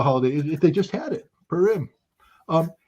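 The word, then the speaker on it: Purim: know what uh and I mispronounced it but it's not purm it's PM I guess the holiday you know what the holiday they just had it perim um it's the celebration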